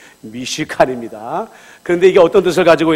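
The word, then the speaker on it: מִשְׁכָּן: 그런데 이 성막은 어떤 뜻을 가지고 있냐면 히브리어로 미시칸인데, 여러분들 이거 발음을 잘 하셔야 돼요. 무시칸이 아니라 미시칸입니다.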